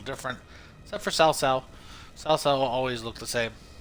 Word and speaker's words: Cao Cao: Even though his name's in this. C-A-O. That's how you actually pronounce it. But to me, it's always Cao Cao.